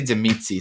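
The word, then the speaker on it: Tzimisce: I say Zemitzi. Some people don't like that pronunciation.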